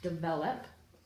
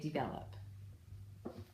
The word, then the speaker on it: develop: a great job and some people I think say develop some people say develop now without a schwa hey that's a good